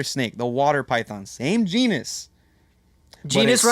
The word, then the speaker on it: genus: You were given the choice of a much better snake, the water python, same genus. Genus but it rhymes with swims.